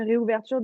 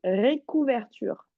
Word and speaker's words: réouverture: Pareil, l'autre mot, tu m'as dit récouverture. Est-ce que tu vois un C dans le mot?